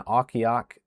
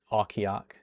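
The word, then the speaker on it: Ocqueoc: I'm also pretty sure I pronounced that one correctly. Okiok, or I was close to it. Oqueoc is how it's spelled.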